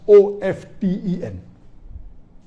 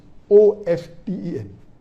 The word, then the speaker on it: often: of 10 is correct t is not silent it should be pronounced some say t sign